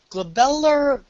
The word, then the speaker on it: glabella: and the face ah glabellar basically is the arm it's the area right between the eyebrows all right and pepper if it's pronounced glabella with a g' okay and and basically